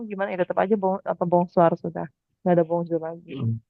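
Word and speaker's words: bonsoir: mataharinya belum tenggelam gimana ya tetap aja apa bongsar sudah enggak ada bongsur lagi Kemudian eh bongsarnya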